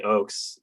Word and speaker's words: Ochs: should say your name is uh j oakes uh introducing and saying goodbye to j oakes you pronounced it correctly i'm i'm delighted and honored